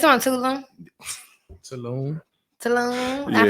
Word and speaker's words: Tulum: Fucking It's on Tulum. Saloon. Tulum. I pronounced it wrong. Nah, that's where you be at, Tulum.